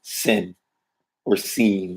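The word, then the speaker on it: שׂין: Shin or sin, depending on where the dagesh is. If the dagesh is on the right stem, shin. If the dagesh is on the left stem, sin or seen.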